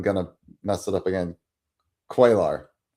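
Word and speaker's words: Cuellar: I looked it up on baseball reference and yeah, it's quailer. Okay. All right. So I said queller earlier and Michael's like, "Yeah, that's that's not correct."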